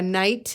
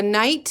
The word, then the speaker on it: knight: top of my head that's night like a knight in shining armor is spelled with the k n and the silent k the knight in shining armor saved